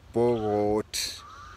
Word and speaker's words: Pokot: I hear in the Pokot tribe, one person is called Pokot, but they pronounce it as if the K sounds like a G, and it is Pogot.